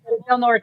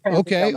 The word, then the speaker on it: Del Norte: Del Norte. They pronounce it Del Norte.